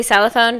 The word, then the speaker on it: xylophone: If you say xylophone, that's an X. But you say it like an S, you know.